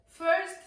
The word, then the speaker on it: first: not a Tong twister first things first first things first first things first it sounds that you're not pronouncing the T in first and you are blending it with the th first things first in